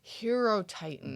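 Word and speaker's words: Hierotitan: found it's called the hero titan hero titan like it's spelled slightly differently right yeah h-i-e-r-o titan right um which is why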